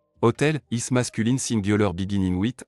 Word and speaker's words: hôtel: Hotel, is masculine singular beginning with a silent h bar oblique vowel sound, so 7 is used.